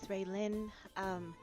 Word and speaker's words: Raylin: Next up, Raylin, maybe? I think is how you say it. Yeah, you're correct. Hello, my name is Raylin.